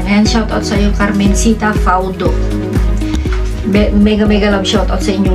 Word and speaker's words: Faudo: Faudo, paano yung pronunciation? F-A-U-D o Faudo? O Faudo?